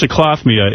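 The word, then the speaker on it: cyclothymia: known as let me see if I can pronounce this cycloph cyclophia what c-y-c-l-o-t-h-y-m-i-a a condition though is cyclofemia is sometimes present in persons with weeping anus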